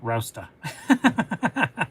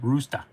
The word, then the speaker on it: Rochester: When someone from Mass says Rochester, I like to tell them it's actually pronounced Rousta. That's funny. It's actually pronounced Roosta.